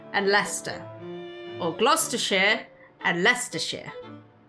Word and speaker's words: Leicester: Gloucester and Leicester. Or Gloucestershire and Leicestershire. You got the glo and the less.